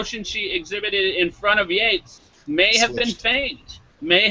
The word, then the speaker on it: Yates: It's Yates, Y-A-T-E-S. Oh, whatever. Gates, Bates, he's dead, so we can say his name if we want to. He's dead. Gates, Bates, Waits. Who cares? He killed. It means that his butler called him Master Yates, not Master Bates.